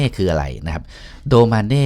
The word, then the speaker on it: Domane: คือ โด มา นี่ เรา ไม่ อ่าน ว่า ดู เมย์ นะ ครับ ก็ อ่าน ว่า โด มา นี่ เป็น ชื่อ แบบ ภาษา